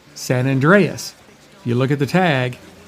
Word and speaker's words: San Andreas: It is pronounced San Andreas.